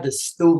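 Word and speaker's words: Da Stu: So we got the Stew, man. It's spelled DASTU, man, but it's pronounced the Stew, man, short for the studio.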